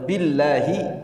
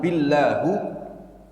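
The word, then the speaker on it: بالله: Kalau udah billahi, demi Allah. Kalau dia mengatakan billahu, ini salah dia, ya. Salah bacanya, salah mengucapkannya. Nah.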